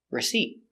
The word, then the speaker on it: receipt: e re receip receip use a stop T put your tongue up receipt not receipt but receipt receipt the stress is on the second syllable receipt receipt receipt let's